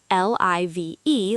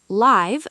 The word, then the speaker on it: live: The verb live, l i v e, like give, I live in Bangladesh. The adjective live, l i v e, like five, this is a live show.